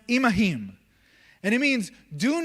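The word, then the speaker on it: עִמָּהֶם: a Hebrew word that says im that is pronounced imahim.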